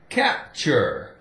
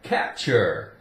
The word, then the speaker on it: capture: okay see why cycle now when does he sound like K see without so this is easy to remember all we have to do now is remember without E I or Y without E I or Y C sounds like okay for example capture capture maybe there's a stray